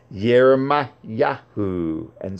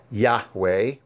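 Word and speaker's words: Yahuah: is yahu or yahua to ignore the ha at the end is a disservice as in the pronunciation yahwe as the ha is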